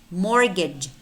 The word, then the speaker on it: mortgage: We also have words which contain the letter T, but it's not pronounced. It's silent.